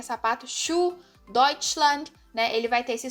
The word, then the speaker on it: Deutschland: muitas palavras, como por exemplo a própria palavra Deutschland, né? Ele vai ter esse som de X, então Schuh, né, que é sapato, Schuh, Deutschland, né?